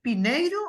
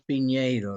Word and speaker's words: Piñeiro: piñeiro una pregunta Jorge tu nombre es pineiro o pineiro él es piñeiro lo que pasa que en Estados en Estados Unidos no se usa la ñ Y eso Por eso se escribe con n OK Bueno entonces vamos a